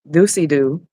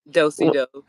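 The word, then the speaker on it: do-si-do: I did a doocy doo. Doocy doo? Dosey do. That's it, and I kept saying "doocy doo," and somebody commented and was like, "I am so sorry, but it's not pronounced that."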